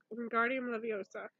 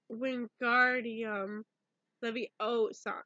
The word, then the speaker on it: Wingardium Leviosa: hat bran at the Guardian Livio sir he said waving his long arms around like you're saying it wrong you're saying it wrong Harry it's Wingardium Leviosa make the guard nice and long you do it then